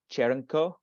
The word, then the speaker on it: Črnko: So the first wine here, if you're not familiar with the Slovenian pronunciation, is pronounced Črnko. It's like a ch, is that first letter. So Črnko Jareninčan.